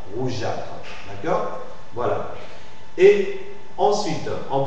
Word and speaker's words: rougeâtre: Hein, si on représente la graphie G, représente le son le son G, alors s'il va suivre des E muets, le E muet ne se lit pas. Rougeâtre.